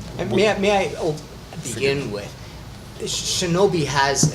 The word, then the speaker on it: Shinobi: Mine is slightly different. It's Shinobi.